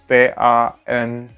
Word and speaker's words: Tanja: Jadi itu kayak Y. Kalau misalnya di suatu kata, contohnya misalnya tipikal nama Jerman di sini Jan. Jadi tulisannya itu bukan Y-A-N tapi J-A-N. Jan. Atau misalnya Tanja. T-A-N-J-A. Tapi bacanya Tanja.